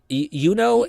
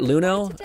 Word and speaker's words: Yuno: So, it's Yuno and not Luno. Yeah, I know. When we hear in the story, she's called Yuno or something like that. Uh, but I will probably